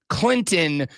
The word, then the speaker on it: Clinton: in Orangeburg and yes that's Clinton pronounced with no T Lonzo called him to